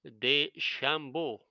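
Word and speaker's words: DeChambeau: pronounce his name right his first name is bryson that's the easy part the day shambo i think this is how you pronounce it anyway uh he'll currently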